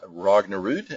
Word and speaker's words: Rognerud: That's pronounced Rognerud, and I've been doing